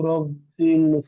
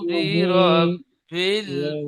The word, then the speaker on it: برب: কুল কুল আউযু আউযু রব্বিল বলছেন, কুল আউযু রব্বিল হবে না, কুল আউযু বি, বাজের বি, এই বাজের বিটা ছেড়ে যাচ্ছে, খেয়াল করে পড়বেন। কুল কুল আউযু আউযু বিরব্বিল ফালাক।